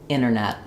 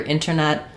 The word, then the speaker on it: internet: You'll hear internet, you'll also hear internet. So, when there's an NT together in the word, sometimes that T is just completely gone.